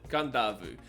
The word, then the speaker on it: Kadavu: Now you see it's got Kadavu, but I pronounce it Kadavu because when you see a D in Fijian, you put an N in front of it.